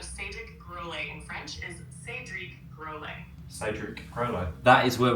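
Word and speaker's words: Cédric Grolet: Correct pronunciation of Sedic Grle in French is Sedriek Grle.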